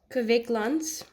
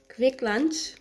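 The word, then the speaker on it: Kvikk Lunsj: chocolate it's really good K Lun K Lun it literally the pronunciation sounds like you're saying quick lunch in a Norwegian way and the article that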